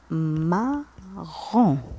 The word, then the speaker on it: marron: عنا marron marron. هنا نتكاو على R. علاش؟ لأنه مكرر مرتين كأنها الشدة في العربية. الشدة في العربية واش نديرو؟ مثلا معلم معلم. هنا نتكاو على اللام لكن في الفرنسية نكرر الحرف مرتين.